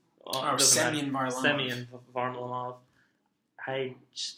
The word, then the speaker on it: Semyon: Semyon Varlamov.